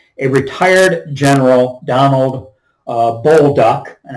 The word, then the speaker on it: Bolduc: retired General Donald uh bullduck and I think I've heard it pronounced that way on the radio I think that's correct b-o-l-d-u-c and I did a